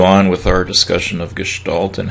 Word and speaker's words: gestalt: of art and design i remember gestalt and listen to the way i'm pronouncing it's german for form typically you'll hear this